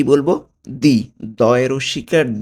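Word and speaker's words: di: দি। দয় রস্যিকার দি, নট ডি। ওকে? দি। দয় রস্যিকার দি। এটা হবে গেল আমার ডি।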